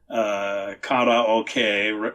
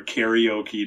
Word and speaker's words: karaoke: And so they'll go to the bar at night and sing karaoke or karaoke, depending on how you want to pronounce that.